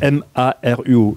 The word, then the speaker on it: Maruo: M A R U O , I pronounce it correctly .